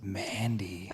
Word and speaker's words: Mandy: to dance for me you're not saying it right it's Mandy I'm gonna go other